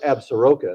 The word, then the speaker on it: Absaroka: Some of that will be left over, though, so it'll get on the Absarokas, which is the proper pronunciation, and then over to, I know it's spelled Absaroka, and that's how they said it in Longmire, but it's actually pronounced Absaroka.